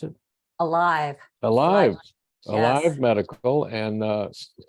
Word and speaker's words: Alyve: Is that how you pronounce it? Alyve.